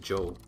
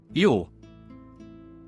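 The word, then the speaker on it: jó: Or is it Joe? How do I pronounce it? What is this? Yo, that's good.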